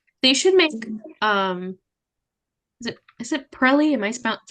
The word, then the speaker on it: Pirelli: They should make is it Pirelli? Am I pronouncing that right? Pirelli?